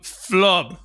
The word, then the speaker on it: Flub: This is Mario Fantes, and today I have with me Michael Álvarez from Flub. Is that how you pronounce it?